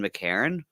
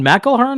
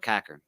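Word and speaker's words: McEachern: He calls it Lon McCarron. Lon McElhern? I thought it was McElhern. No, he pronounces it, and they pronounce it on the show, Lon McCarron. But it's written in a way that down here in Nova Scotia, what we'd say, we'd call it McCackern.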